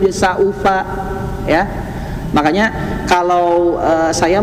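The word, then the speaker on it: سوف: Saufa saunya kalau bisa diucapkan dalam satu kata, satu suku kata. Saufa ya. Saufa. Jadi sau bukan saufa ya. Kalau saufa itu seolah-olah ada huruf ee wawu yang hidup atau huruf hamzah yang hidup.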